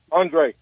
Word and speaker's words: Andre: R what's up Ray Andre oh Andre Andre well sounds what's up it rhymes with Ray there there's a ray in there you can't spell can't say Andre without Ray all right here we